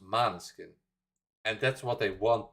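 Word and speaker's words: Måneskin: themselves in an interview in Italian it's pronounced manskin and that's what they want people to say but everybody keeps saying more than skin because now Mary no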